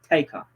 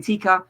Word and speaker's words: Taker: It's Taker. Thank you so much for educating me. I appreciate that. Because obviously I say it wrong. I've been saying Tika. It's Taker.